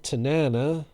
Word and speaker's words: Tanana: And there's Frank Tanana, who has the only surname I know of that rhymes with banana.